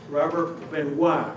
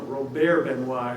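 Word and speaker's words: Robert Benoist: And here we see the two of we see oh sorry uh Robert Benois is the way no Rober Benois is the way you're supposed to pronounce his name.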